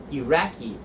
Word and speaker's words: Iraqi: that we can practice, the first one is I, and it's pronounced E. So for example, in Iraq, we don't say Iraqian food, we say Iraqi.